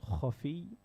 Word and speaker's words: khafi: So jali and khafi, K-H-A-F-E-E.